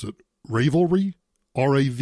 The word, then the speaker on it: Ravelry: and crochet site that I don't have to pronounce it Rayville REE Rav e l ry they are now